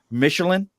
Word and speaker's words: Michelen: word missing how well I deal with it Michelin perfect look get that we have Oscar Mission Jeff I've butchered his last name so many times he